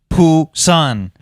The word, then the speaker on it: Busan: Poo-san.